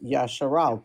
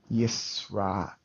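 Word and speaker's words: ישראל: Yeah, the Israel is Yasharal, correct? Yisrael. Yisrael. Okay, I don't Yisrael, have yeah.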